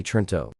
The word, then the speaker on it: Toronto: use of the name the pronunciation of the city is broadly trinto Tonto which locals pronounce no or no leaving the second T silent 4950 51 history main